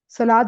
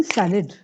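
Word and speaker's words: salad: या सलाद नहीं सैलेड। सलाद उर्दू में होता है। सैलेड।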